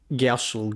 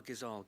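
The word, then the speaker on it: Gysahl: You know, I'm just giving you these amazing, these delicious Gashel greens. Take them. Feed your family with them. These are Gazal green seeds. Yeah, Gazal greens, that's how you say it.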